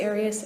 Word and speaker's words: Arias: Um, I say Aras as does the rest of my family.